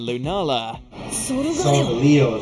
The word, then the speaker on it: Lunala: here today number 10 solgaleo and lunala so that's how you say it these two legendaries won't